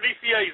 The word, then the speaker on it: Nicieza: is he in yeah he's in okay Mr DCA how are you hey Victor how are you I'm real good did I pronounce your name right you've pronounced it perfectly